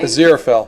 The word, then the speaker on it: Aziraphale: Oh, Dalton says, I'm currently drawing Bowie as, okay, I can never pronounce this, Aziraphale? Aziraphale.